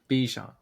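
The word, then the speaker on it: Bijan: Bejon. Yeah, it's because it rhymes with Djon.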